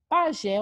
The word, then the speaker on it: pajé: é a última sílaba a ser a última sílaba é oxítona paroxítona vou fazer o que me apegar a regra pajé uma palavra acentuada justamente porque é sinalizada em